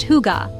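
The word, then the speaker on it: hygge: One of the most famous Danish concepts is Higa, pronounced huga.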